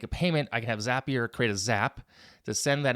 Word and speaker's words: Zapier: a lot more of zapier and by the way that's how you say it it's called zapier because it rhymes with make you happier right so it goes